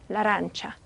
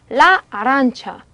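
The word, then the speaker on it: l'arancia: 한 단어인 것처럼 라란차. 예. 더더군다나 이렇게 하는 이유는 라 아란차 이렇게 하면 불편하거든요. 불편한 것을 방지하기 위해서 없앴는데 르 아란차 이렇게 읽으면 더 불편해지니까 없앨 이유가 없겠죠. 예, 그래서 라란차라고 읽어주시면 됩니다.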